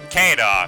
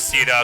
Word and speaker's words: Caeda: copy of a resplendent ceda keda shita i don't know so many pronunciations but i'll go with ceda because that's the most canon one so uh cena's been